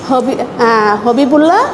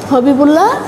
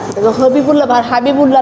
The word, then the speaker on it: হবিবুল্লাহ: এটা লিখেছেন হবিবুল্লাহ বাহার। তোমরা বানানটা খেয়াল করো লেখকের। হবিবুল্লাহ, হাবিবুল্লাহ না, কিন্তু হবিবুল্লাহ বাহার।